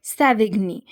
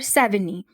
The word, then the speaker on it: Savigny: थे of juris prudence that is सेविग्नी और सेविनी इट कैन बी एस ए वी आई जी एन वाई और एस यू can pronounce it सेनी तो 1779 से 18613